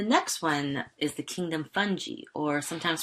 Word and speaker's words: fungi: membrane-bound nucleus the next one is the kingdom fungi or sometimes pronounced fungi actually I have a joke that relates to